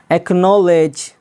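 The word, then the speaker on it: acknowledge: बारे में जानते हैं अगर किसी शब्द में अगर किसी लफ्ज में सी के बाद के या क्यू में से कोई एक लेटर हो तो सी हमेशा साइलेंट रहता है जैसे एक्नॉलेज एक्नॉलेज यहां पर देखिएगा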